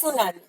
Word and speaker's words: tsunami: सुनामी, इसमें टी होगा silent. Due to volcanic eruption or earthquake on the sea floor, high oceanic waves are created. They are known as tsunami.